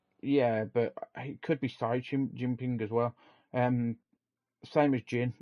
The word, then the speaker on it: Xi Jinping: But I think CG Ping, isn't it? it's Xi Jinping. Cause, ZG Ping, I no, because think. the X is pronounced as a C in Chinese, so it'd be Xi Jinping.